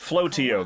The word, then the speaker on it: Flotio: Flotio, that's how you pronounce it.